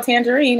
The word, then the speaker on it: Tanjareen: And hope they know how to spell tangerine. It's not spelled like the fruit. It's spelled T-A-N-J-A-R-E-E-N. T-A-N-J-A-R-E-E-N. Tangerine. Not like the fruit, but like the name.